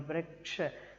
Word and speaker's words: वृक्ष: Vriksha, that ksha should come first properly.